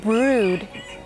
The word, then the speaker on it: brood: So the name for bee babies, if you want to say it, it rhymes with food. It's called brood. B-R-O-O-D, brood.